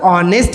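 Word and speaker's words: honest: लोग बोलता है सर ऑनेस्ट है तो उसमें हम ए एन लगाते हैं ए तो साइलेंट होता ओ सन निकला तो ऑनेस्ट यहां पे ऑनेस्ट में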